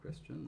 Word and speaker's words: Christian: Uh my name is the norm pronunciation of Christian, like the religion, but.